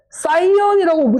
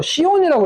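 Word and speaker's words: cyan: 그리고 CMIK는 우리가 이걸 사이언이라고 읽는 사람도 있고 시온이라고 읽는 사람도 있어요. 근데 저는 사이언이죠.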